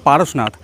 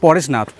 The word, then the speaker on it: Parasnath: confirm হয়ে গেলেন যে এই জায়গার নাম কিন্তু পারসনাথ নট পরেশনাথ পরেশনাথ আমরা বাঙালিরা বলি কারণ আমাদের বাঙালির যে উচ্চারণ আছে তো আমরা অনেকেই অনেক কিছু বলে থাকি এখান থেকে কোন জায়গায়